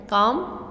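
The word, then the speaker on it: calm: पर जो वर्ड है काम सीधे ले अब इसमें तेल साइलेंट है इसको काम बोलते हैं काम एंड कंपोज्ड हिस स्पीयर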